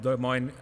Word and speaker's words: Des Moines: We have three presenters: Roslyn Billy from Des Moines Public Schools, Pablo Ortega from Des Moines.